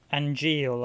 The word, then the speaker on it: Angeal: Angeal, I should say. Well, they pronounce it Angeal, but...